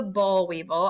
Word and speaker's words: boll weevil: So this is the boll weevil, and I'm going to spell it because I know my accent's probably throwing y'all off. It's B-O-I-L. Boll weevil, W-E-E-V-I-L, the boll weevil.